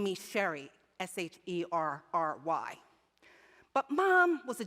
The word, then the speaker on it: Sheree: And when I was around 13, it was really clear to me that the pronunciation of my name was going to be Sheree, not Sherry.